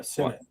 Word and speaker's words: Ben Sinnott: It's Sinnott, you said? Yeah, Sennett. Ben Sinnott. Okay, yeah, I had only honestly really heard the pronunciation through the footballers, and I know that